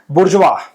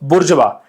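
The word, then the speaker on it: bourgeois: को पढ़ा था तो उसको बोलते थे बुरजवा। क्या बोलते हैं उसको? बुरजवा। मतलब कैसी इंग्लिश है यार? ठीक है? स्पेलिंग कुछ और, बोलते कुछ और।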